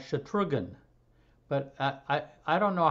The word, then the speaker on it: Shatrughan: His first name is something like Shatrughan, but I don't know how to pronounce it because he was always known as Kumar. Anybody help me on the pronunciation of Kumar's first name? Shatrugna.